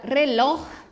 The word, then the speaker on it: reloj: Importante, la última sílaba es la fuerte, pero no termina em NS o vocal, por isso não lleva tilde, tá bem?